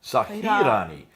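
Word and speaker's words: سَاحِرَانِ: Warsh version of the Quran, chapter 28, verse 48 says Sahirana. Sahirani. So from Which- sihrani, it's sahirani. Which means two magicians.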